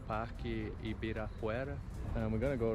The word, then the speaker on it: Ibirapuera: That's Ibirapuera. It's hard for you to pronounce that.